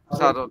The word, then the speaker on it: স্মরণ: তো আমরা বলছি না ওটা স্মরণ উচ্চারণ হয় স্মরণ সারণ এইরূপ ব্যবস্থা আর কি